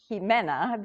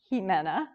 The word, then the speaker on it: Ximena: The X is pretty frightful to it's Ximena, although now XI is very much in the public with Xi, the president of China. So I guess it could be Ximena too. XI has that Xi sound, but it's pronounced Ximena, and my last name is